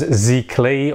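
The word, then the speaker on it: giclée: We've got inkjet printing, which is also known as Zikli, or how it looks whenever you look how it's spelled. It's like G-I-C-L-E-E, something like that.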